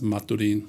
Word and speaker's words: maturin: uh package called Maturin I'll just pronounce it as Maturin like the city in eastern Venezuela I spent some time